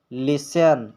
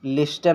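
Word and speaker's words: listen: कब साइलेंट रहता है जब किसी वर्ड के लास्ट में न आया हो तो यानी न यानी टी ई एन आया हो तो उसमें टी साइलेंट रहता है उसमें टी साइलेंट रहता है जैसे लिसन लिस्टन नहीं पढ़ा जाएगा लिसन लिसन यहां पर आप देख सकते हैं टी ई एन आया है लास्ट में तो इसमें टी साइलेंट रहेगा इसी तरह आटन इसको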